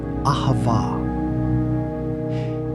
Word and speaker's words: ahavah: The Hebrew word for love is pronounced ahavah.